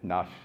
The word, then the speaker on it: Nash: Nash is how you say it, the number one.